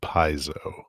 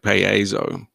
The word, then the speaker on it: Paizo: But it seems that most people nowadays just pronounce it Paizo. So you're saying it's a diphthong, like Paizo.